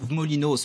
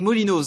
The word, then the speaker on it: Molinoz: molinoz vice présidents sortants molinos pardon c'est l'habitude les frais en franche comté on prononce pas le z molinoz ce donc élu régional vice